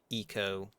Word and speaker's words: Ico: I think people say Eco. I think that's what the real pronunciation for that game is Eco. Which is really weird because it's ICO, so it should be Ico.